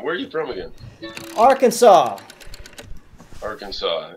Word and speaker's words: Arkansas: are you from again Arkansas Arkansas wise Kansas pronounced Kansas but Arkansas isn't pronounced Arkansas I don't know why